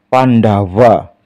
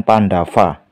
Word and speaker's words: Pandawa: Ini dibaca Pandawa, bukan Pandava.